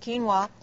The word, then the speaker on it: quinoa: it but it starts with a Q is pronounced quinoa yeah how would you describe what it is